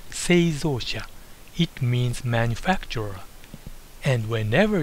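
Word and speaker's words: 製造者: followed by Japanese addresses the first one is pronounced seia it means manufacturer and whenever you see this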